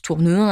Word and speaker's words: Tournehem: François Lenormand de Tournehem pour prononce tourne un à l'époque certains diront